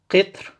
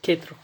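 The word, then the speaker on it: قِطْر: and then you have qitr, and then you have qutr. So qatr, qitr, qutr. So these are three different words. They are pronounced similarly. The only vowels change.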